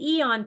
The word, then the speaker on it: AEON: The Eon activates, and it's spelled AEON.